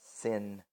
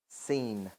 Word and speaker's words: Sin: Let's say we call forth mightily powerfully upon Nana, who is known as Sin, or actually in the way it's actually supposed to be pronounced, Seen.